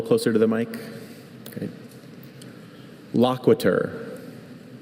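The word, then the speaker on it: loquitur: Loquiter. Is there any alternate pronunciation?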